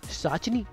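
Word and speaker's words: पिशाचिनी: नाम संगीता घोष, पर्दे का नाम साचनी यानी पिसाचनी, जहां पर पी साइलेंट है।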